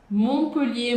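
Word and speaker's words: Montpellier: E sempre que você encontrar isso em uma palavra, dentro da palavra ou assim separadinho, como a gente encontra aqui, esse T é mudo. É por isso que a gente fala Monreal e não monre Montreal. Você percebe? Ou então Montpelier. Montpolier, Monreal, Mon Michel.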